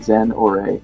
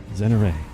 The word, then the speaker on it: Zenora: CU it's annoying me Zen or Ray right Zen or Ray like Ray MH is that yeah